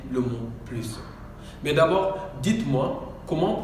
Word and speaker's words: plus: Avec le sens négatif, on ne prononce pas le S. C'est-à-dire on ne dit pas plus, on dit pas plus, on dit plus.